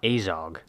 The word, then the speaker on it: Azog: in his flesh where are you getting this pronunciation from his name is azog not azog is there no way around not unless we